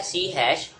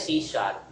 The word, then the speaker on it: C#: ठीक है, तो सी शार्प को प्रोनाउंस किया जाता है सी, देखें लिखा जाता है सी हैश, और प्रोनाउंस किया जाता है सी शार्प।